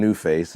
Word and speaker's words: NuFace: like a play on words but I am newface is how you spell it n u f a c and the